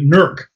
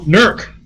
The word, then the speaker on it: Newark: If you go through Newark, they still have those T-shirts that say Nurk Ahia on them, because that's how all the locals pronounce the name of the town.